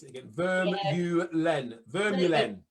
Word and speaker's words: Vermeulen: Well, it's supposed to be, because it's Dutch, the V is the F and you roll the R. So it's supposed to be Vermeulen.